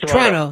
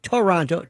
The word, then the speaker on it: Toronto: It's just Toronto, not Toronto. Toronto. Toronto. Yes. We sort of don't pronounce the second T in the name.